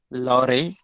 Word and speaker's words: Louvre: Okay, you can pronounce it like this, Louvre.